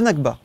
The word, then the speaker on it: Nakba: c'est une question de loi internationale alors la nakba c'est comme ça que ça prononce oui c'est quoi la nakba c'est la